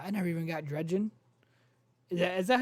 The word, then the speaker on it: Dredgen: I never even got Dredgen. Is that how you say it? Dredgen?